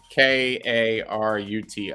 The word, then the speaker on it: Karuti: the karuti oh sorry k-a-r-u-t-i karuti it is a waifu project anime uh ladies yes still doing that i guess rhymes with booty lands of karuti yes